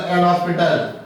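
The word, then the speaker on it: L'Hôpital: Don't pronounce the L'Hopital.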